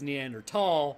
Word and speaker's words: Neanderthal: The Germans pronounce t h a l, at least from what I've come to understand, as a t sound, not a th sound. So, it actually is neanderl, but nobody's going to fault you for saying neanderthal.